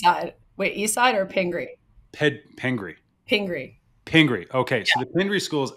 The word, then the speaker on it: Pingry: If I want to make sure I got the pronunciation correctly. East side. Wait, East side or Pingri?